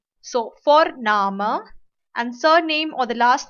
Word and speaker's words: Vorname: V is pronounced as fa. So Vorname, and surname or the last name is known as Nachname.